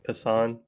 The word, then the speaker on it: Passan: Passan.